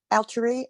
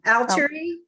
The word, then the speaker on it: Altari: So, Altari, and I am here. Wait, we have to say your name. Altari. Altari. Altari. Okay. It rhymes with Valerie, if that helps.